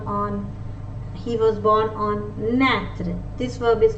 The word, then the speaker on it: naître: I with a accent circumflex is pronounced as a, like the letter E in elephant, like the letter E in elephant. Naître, naître means to be born.